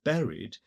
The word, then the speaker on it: buried: friends which I thought buried are increasingly clearly to be considered lovers. And note of course that buried is pronounced with three syllables here.